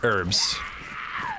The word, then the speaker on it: herbs: Silent H on herbs. Yeah, I say her herbs. Where's the H gone?